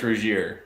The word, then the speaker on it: Rougier: is so pretty oh we're aware it's rougier but rugger sounds like drugger so it's a ruger it sounds like a german nazi gun that's what that sounds like in the midwest we call it we pronounce it ruger yeah that's right um